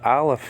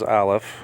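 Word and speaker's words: aleph: and L you got the ALF here which is a silent letter pure silent letter there are two silent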